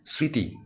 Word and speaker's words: স্মৃতি: ময় দীর্ঘ তয় স্মৃতি আমরা স্মৃতি এভাবে বলি না তো ম এর উচ্চারণ এখানে করি না ঠিক আছে এটা স্মৃতি অর্থাৎ এখানে কিন্তু তোমার